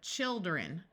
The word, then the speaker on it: children: One important exception where the I does not have a long I sound is the word children. Notice when you have one child, it has a long I sound. But as soon as you make it plural, the I becomes a short I